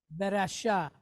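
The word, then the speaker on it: ורשע: But then it's being followed by the letter ayin, which is a silent letter. So what are we doing here? We are just extending this A sound.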